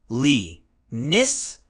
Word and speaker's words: comeliness: the correct pronunciation is cess with the stress on the first syllable cess is a sophisticated